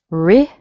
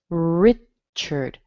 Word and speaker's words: Richard: Richard. Richard. Notice the A in here sounds like a schwa. Richard. It's connected with an R, but it has a schwa in there.